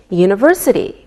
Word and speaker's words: university: don't pronounce the H we say a university because University sounds like a wise sound same with a European